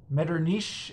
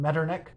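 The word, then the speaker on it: Metternich: a lot uh he he says that he's going to pronounce it mirernish uh because of his German fans but then it turns out uh that in the in the next episode he has to apologize because apparently he's not pronouncing it right so I'm just going to avoid all that and just go with the traditional English pronunciation medernick his episode on meternik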